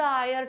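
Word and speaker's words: heir: अब हायर नहीं पढूंगी। जिसने इसे हायर पढ़ा लाइक हायर।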